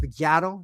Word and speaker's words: Figgiato: Do you know my last name isn't really pronounced the way you guys see it? It's pronounced Figgiato. That's how you're supposed to say my name.